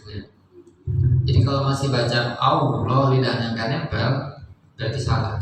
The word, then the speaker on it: Allah: Jadi tafkhim tadis itu ada juga di lafzul jalalah atau Lafzul Allah. Jika didahului oleh fathah atau dhammah maka dibacanya tebal.